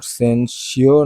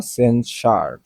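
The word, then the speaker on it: censure: উদার ইম্পর্টেন্ট না সেনসিওর সেনসিওর তিরস্কার ইম্পর্টেন্ট সেনসার সেনসিওর না সেনসার এস ইউ বা কোন কিছুর পরে ইওর ইউ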